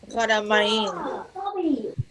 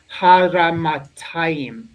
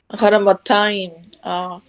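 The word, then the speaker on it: הרמתיים: Haramain. Close, actually close. You need the tav here. Haramatayim. Haramataim. Very nice. Very nice.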